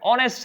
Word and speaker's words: honest: इसमें यही लॉजिक है कि एच यहां पर साइलेंट है और इसकी साउंड नहीं है। साउंड क्या है? ऑनेस्ट है। ऑनेस्ट जो साउंड है वो आपकी स्वर वाली साउंड है, इसलिए यहां क्या यूज होगा?